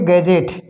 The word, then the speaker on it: gadget: Example देखिए GADGET, इसमें D silent है तो GA, जहाँ GA आया है तो वहाँ पर हम गा बोलेंगे, और GE आया है तो उसे हम जा बोलेंगे। तो इसको पढ़ेंगे गैजेट।